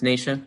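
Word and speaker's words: Nasha: tumors it's uh nation it's spelled like nashville but it's nation winters and she also has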